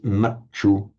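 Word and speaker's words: maccu: And the consonant cluster tya, which is distinctly pronounced as a t in Sanskrit, becomes just a double ch in Pali. So that's how the Sanskrit mrityu becomes machu in Pali.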